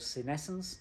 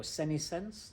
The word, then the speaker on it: senescence: it's called senescence or sinisense determine depending on whether you're in the US or the UK it's the same thing it's just pronounced differently so senescence senisense is